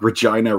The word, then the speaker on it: Regina: And it's like, Regina rhymes with fun.